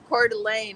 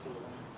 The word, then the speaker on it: Coeur d'Alene: Just not easy to pronounce, and that's not even indigenous. That's French.